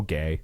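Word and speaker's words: Gueye: Mo Gay.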